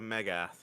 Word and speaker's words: Megath: Hey, you gotta say it right. The Megath. As they're called, the Mega and then TH.